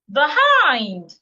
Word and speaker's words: behind: What if it's a preposition? An example of a preposition will be behind. Behind. You're stressing behind.